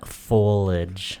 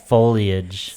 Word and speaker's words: foliage: baby because tell them foliage that's not how you say it foliage foliage foliage it's the Foliage for